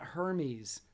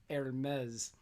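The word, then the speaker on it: Hermès: to say that hermes it's not hermes like it's spelled it's pronounced hermes khan signed with them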